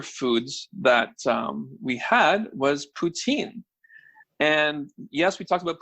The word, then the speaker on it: poutine: I know some people just put ordinary cheese and they call it poutine, but authentic poutine, as they pronounce it, the correct pronunciation, poutine, is cheese curds.